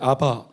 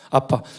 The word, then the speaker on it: Abba: 우리 발음이 같아요 거기는 ABBA 해서 이제 아바 아바 하는데 우리는 아빠 사실 b가 두 개가 있으니까 빠가 맞죠 그러니까 아빠 우리가 아빠 거기도 아빠입니다 엄마는 달라요 엄마는 다른데